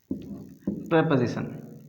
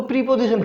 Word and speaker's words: preposition: बहुत सारे लोग इसको ना गलत प्रोनाउंस करते हैं। कुछ लोग इसको प्रीपोजिशन कहते हैं। ये प्रीपोजिशन नहीं है, इसका जो प्रोनाउंसिएशन है, उच्चारण जो है इसका, वो प्रेपोजिशन है।